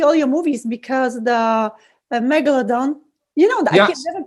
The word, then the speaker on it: Megalodon: Because the Megalodon, I can never pronounce it. Yes. I can never. Did I say it right? Megalodon.